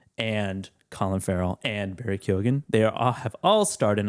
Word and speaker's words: Keoghan: Colin Farrell and Oscar nominee Barry Keoghan or Kogan. Yeah. Not at the time either though. He pronounces it Keoghan. Keoghan? Yeah. Keoghan. Like Riley Keough. No, it's like that. It's like the bridge from Every Little Thing She Does Is Magic.